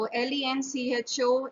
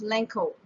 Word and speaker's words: Lencho: British or American so le n CH o is pronounced as lencho in American or Spanish or Italian whereas in British English we pronounce it as Lenco okay Blanco you can